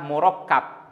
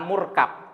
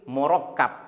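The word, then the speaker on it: مركب: kedua untuk dikatakan kalam bacanya murakab akabnya tasdid tidak sukun bukan murkab tetapi murakab karena ikut wazan mufa'alun ya Adapun pengertian murakab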